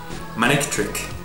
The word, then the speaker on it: Manectric: Because you don't want to say the C there, you just want to skip it. It's easier to say Manectric than Manectric.